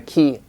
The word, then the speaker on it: key: makes a difference so the long vowels are longer in English key or flute you